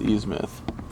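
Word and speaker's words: Innsmouth: aren't Portia it is ease myth oh I know it's spelled ease mouth it's ease myth so I was saying it right at first yeah even though I've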